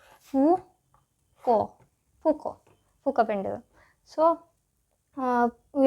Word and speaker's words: Foucault: Actually this is a French name. So here the letters are silent and not like that of ours where all the letters are pronounced. So here only you have to pronounce fuco fukco fukend.